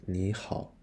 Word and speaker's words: 你好: It is pronounced as 你好.